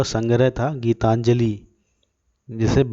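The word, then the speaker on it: গীতাঞ্জলি: कविताओं का संग्रह तथा गीतांजलि निशान बांग्ला में उच्चारण था जिसका गीता जोली गीतांजलि बंगला में उच्चारण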